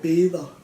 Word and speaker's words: beder: But the soft R is like I pray, jeg ber, or the proper way to say it, jeg beder. But you would normally just say ber.